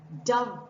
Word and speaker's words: dove: across a soap called Dove soap right but what is this d-o-v-e pronounced Dove rhyming with clove dough is the past